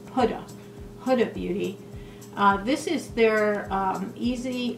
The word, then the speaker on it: Huda: It's pronounced HUDA, like H-O-O-D-A. HUDA Beauty.